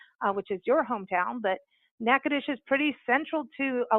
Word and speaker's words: Natchitoches: Orleans would be which is your hometown but NACA dish is pretty central to a lot of main